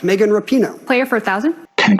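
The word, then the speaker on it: Megan Rapinoe: took him to read it precisely who is megan rappano correct megan rapino player for a thousand ken corrected the pronunciation so she got the answer anyway i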